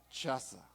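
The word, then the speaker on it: חָזַק: Es una palabra que se pronuncia chaza.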